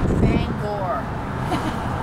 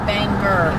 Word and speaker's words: Bangor: to say it right Bangor never say Banger uhuh people will correct